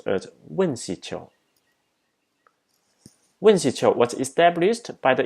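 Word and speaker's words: UNCITRAL: Its acronym can be pronounced as WINCITRO.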